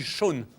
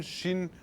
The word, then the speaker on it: Sean: Comment on prononce votre prénom? On dit Sean. On dit pas Sean, Shin.